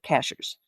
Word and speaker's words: Cashiers: And it's spelled just like the cashier at the grocery store, but all the people around here call it cashers.